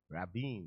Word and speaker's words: Rabin: R chairman Arafat the president of Mr Rabin Rabin that's how it's put the name is pronounced okay so all of that let's see